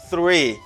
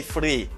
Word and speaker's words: three: the first word is three here we have a voiceless th you say and we have r are sir free okay do not say free I get three people